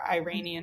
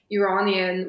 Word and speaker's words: Iranian: yeah, Persian is usually just what I use because sometimes I say Iranian, which is people think of it as Iranian, but like that's not the correct way of saying it. It's Iranian.